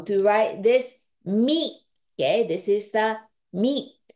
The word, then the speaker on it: み: So this one hiragana contains one pronunciation, mi.